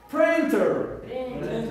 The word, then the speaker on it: printer: printer okay it's printer printer is a word having to be two syllables printer printer prin this rest on the first one printer okay what is